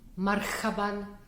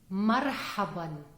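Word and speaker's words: مرحبا: Arabic letter have well this letter is similar to the English letter H which is pronounced like in the word of horse but it's the guttural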